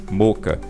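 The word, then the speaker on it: Mocha: Boris effects, Moca, tá? É assim que se pronuncia mesmo, moca, tá?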